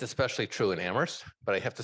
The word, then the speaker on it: Amherst: It's especially true in Amherst, but I have to say, the town where only the H is silent takes debate to a nearly every issue to a new level.